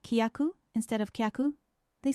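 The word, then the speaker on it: きゃ: It's not kia, but kya.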